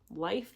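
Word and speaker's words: Leif: constitution Leaf the lucky although I've heard his name is actually pronounced like life the lucky Columbus Benjamin Franklin George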